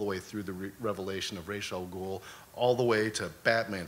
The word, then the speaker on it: Ra's al Ghul: Pronounce Ra's al Ghul. Yeah. Oh yeah. Yeah, we learned Ra's al Ghul.